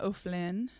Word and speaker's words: O'Flynn: I am O'Flynn.